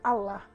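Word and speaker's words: אלה: as leis de Deus, ela no original se pronuncia Alá.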